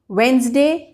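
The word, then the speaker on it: Wednesday: Then daily use words में वेंसडे, Saturday, this is the correct pronunciation.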